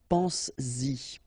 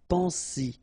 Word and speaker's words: pense-y: this pronoun after, then you will have to put back this S just to produce it orally, because you will pronounce it pense-y, pense-y, okay? Pense-y, all right? So you get to make this liaison.